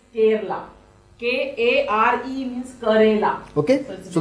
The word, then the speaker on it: Kerala: This is a Karela and not Kerala. Kerala is a state of India. That is a Kerala. Is K-E-R-A is Kerala.